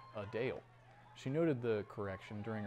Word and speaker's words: Adele: many pronounce it as Adele the singer says it's actually a Dale she noted the correction